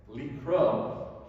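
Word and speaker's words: לקרוא: Likro, pronounced the same exact way, with a different silent letter at the end.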